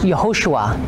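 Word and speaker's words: יהושע: here's a representation of Joshua and Hebrew is pronounced yahushua and this is how you'd actually pronounce jesus'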